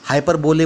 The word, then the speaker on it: hyperbole: Hyperbole, we can say na hyperbole, HYPERBOLE. Hyperbole, hyperbole मतलब बढ़ चढ़कर बोले. बढ़ चढ़कर बोले hyperbole. Spelling is hyper, HYPERBOLE, but we pronounce it as hyperbole.